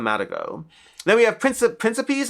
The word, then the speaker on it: Principe: Then we have Prince Principe, I think it's pronounced princip. I could be mistaken from Leo Soliv.